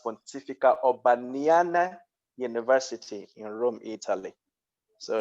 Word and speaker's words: Pontificia Urbaniana: The university that I attended is actually pronounced Pontificia Urbaniana University in Rome, Italy.